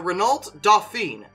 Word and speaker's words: Renault Dauphine: a motorized shopping cart really really yo the Renault Dauphine which is French and I looked at the pronunciation again and that's what they said so